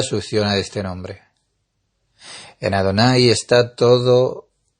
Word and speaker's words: Adonai: el nombre de Adonai, está escrito en el tetragrama Javayá, pero en cambio decimos este nombre y pronunciamos Adonai.